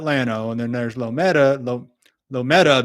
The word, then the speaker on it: Llano: There's a town called, there's Llano, it's 2 L's and then A-N-O, and they call that Llano.